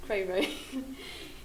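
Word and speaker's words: Creirwy: Cray Rai. Pode pronunciar pelo inglês. Então é mais fácil. Cray Rai.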